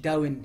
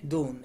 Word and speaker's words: dawn: dawn معناها خلي بالك مش داون، هي النطق بتاعها الصحيح دون اللي هو الفجر.